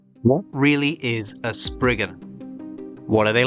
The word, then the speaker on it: Spriggan: Originally from Cornish folklore, the name of this creature is pronounced Spriggan, not Spriggan.